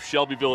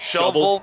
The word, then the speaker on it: Shelbyville: Or instead of Shelbyville, it's like Shovel. shovel, just like you're digging a ditch.